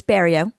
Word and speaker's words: Barilleaux: Y'all, today Bario is our guest. And for those who are not familiar with uh Louisiana names, I'm sure you were wondering how to pronounce her last name. It's burrio and bank advertising is one of those complex